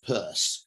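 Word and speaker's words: Peirce: he's a guy called charles sanders purse it's spelled p-i-e p-e-i-r-c-e he's an american logician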